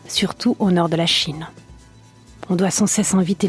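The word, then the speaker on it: 请: disant aux autres chin ce mot chinois se prononce chin et signifi je vous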